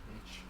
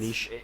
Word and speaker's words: niche: You say niche or niche? Well, it's, Niche. It is pronounced niche. French, isn't it? Niche. Yeah. Niche, not niche. Americans say niche.